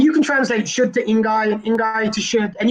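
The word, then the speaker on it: 应该: The word for should in Chinese is ingai. That's Mandarin Chinese. You say it like that, ingai.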